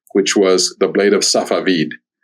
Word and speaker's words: Safavid: was the blade of safavid is how it's pronounced in Persian and it just happened